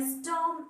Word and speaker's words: storm: A Storm in the Garden. You see, storm. The spelling is S-T-O-R-M, but R is silent, so we pronounce storm.